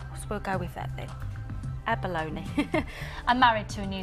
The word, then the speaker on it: abalone: well I've always said Abalone because that's how it's usually pronounced in New Zealand and it's a native gemstone of New Zealand we'll go with that then Abalone I'm married to a